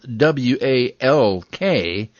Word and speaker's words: walk: l tell me more i'm actually silent in some words when i'm followed by another consonant as in walk it's spelled w-a-l-k but it's pronounced walk